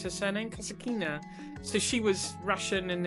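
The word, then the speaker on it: Kasatkina: How do you pronounce her surname? Kasakina.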